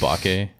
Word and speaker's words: bokeh: I'm really glad that you're explaining this to us, because this entire time I thought that bokeh was a style of taco. It's pronounced bake.